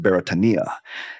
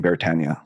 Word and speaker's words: Beretania: Beretania is actually a Hawaiian word, and this is probably the most criticized segment I've ever done because B's not in the language. Like it's actually pronounced Beretania.